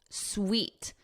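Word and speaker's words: suite: So notice here, sweet. This is pronounced exactly the same as sweet, like chocolate is sweet.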